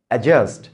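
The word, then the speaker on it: adjust: বন্ধুরা, এটার উচ্চারণ কিন্তু অ্যাডজেক্টিভ না, অ্যাডজাস্ট দ্য লাইট না, অ্যাডজার্ন না, অ্যাজার্ন, অ্যাডজেক্টিভ, অ্যাডজাস্ট। ডি এর পরে যদি জেই বা জি আসে, ডিটা সাইলেন্ট হয়ে যায়, মাথায় রাখবেন।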